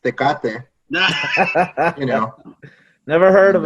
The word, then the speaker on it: Tecate: particular beer it's actually an import um it's pronounced tecate you know never heard of it bro is